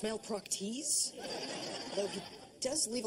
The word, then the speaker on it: Malpractice: malpractice is above me it's pronounced Mal proes though he does leave